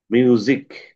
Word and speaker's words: মিউজিক: আর এটা সিক হবে না। এখানে উচ্চারণটা হবে জ এর মত। মিউজিক।